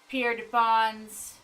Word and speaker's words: Pierrefonds: Pierre Defons. Ah, I was say Pierre Defons. I was saying Bonsy Pierre or something. I don't know. I was saying it wrong.